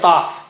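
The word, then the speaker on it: قاف: So qaf is very high sounding. You don't say qaf, you don't say qa, you say qa, qa, qa. And how do you say qaf? Touch the inner part of the tongue to the roof of the mouth right at the back, behind the uvula.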